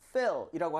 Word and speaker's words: fill: 발음할 때 여러분들 이거는 힘을 빼고 그냥 fill이라고 하셔야지. 만약에 feel 이렇게 입모양 벌렸다가는 느끼다로 돼버리죠.